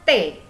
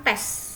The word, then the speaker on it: tes: Dibacanya T. T, bukan tes. Oke, dibacanya T. S tidak dibaca.